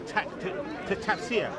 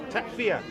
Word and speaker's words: takfir: That is reserved to tafsir. Okay. Have I pronounced it right? Takfir.